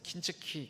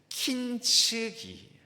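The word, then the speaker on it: 金継ぎ: 일본에 킨즈기 킨즈기 제가 킨즈기 쏘기는 킨즈기라고 써 놓고 발음이 킨즈기가 잘 안 돼서 킨츠키 킨츠키 했더니 한 분이 찌르겠습니다. 목사님 일본어 발음 조심해야 됩니다. 그래서 킨츠기 킨츠이라는 도의 기법이 있습니다.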